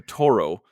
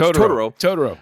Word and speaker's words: Totoro: saying that correctly because I constantly say to Ttoro.